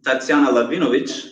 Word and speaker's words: Tatsiana Lahvinovich: So guys, a little bit about Miss Tatsiana Lahvinovich. I'm pronouncing it correctly, yes?